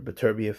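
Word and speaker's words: Beterbiev: of bivo versus uh better beef or B beef actually that's that's how you pronounce it um but we'll have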